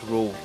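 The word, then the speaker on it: roux: ng row r o Rox po pag binasa pero pagpronounce po non is row una po maglagay po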